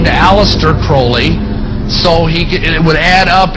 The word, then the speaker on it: Crowley: likes the penis name pronounced Crowley to rhyme with holy and these statements today